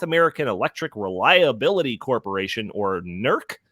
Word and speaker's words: NERC: Electric reliability Corporation or nerc is that how you pronounce it Isaac that's correct nerc the assessment forecast that